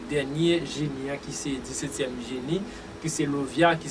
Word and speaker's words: Lauviah: fin avec dernière vidéo qui a rapport avec dernier génie qui c'est 17e génie qui c'est Lovia qui s'écrit L-A-U-V-I-A-H L-A-U-V-I-A-H qui c'est Lovia.